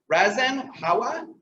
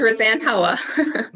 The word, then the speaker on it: Roseanne Howa: i say this wrong razen hawaii did i get it uh i'm from court you're married burlington please correct that if i said it wrong that was perfect it's roseanne howa thank you so much